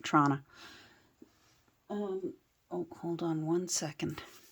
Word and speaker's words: Toronto: If you're from Toronto, you pronounce it Toronto.